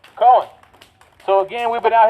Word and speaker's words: Cohen: Cohen. Said it wrong. Cohen.